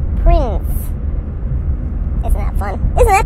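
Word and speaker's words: Printz: it but it's correct Prince Court Prince spelled not like Prince like royalty not like Prince like Kinkos it's spelled p r i n TZ Prince isn't that fun isn't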